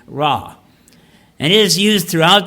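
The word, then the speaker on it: רע: Now, the Hebrew word for evil in this case it's a simple word, so I can pronounce it, ra.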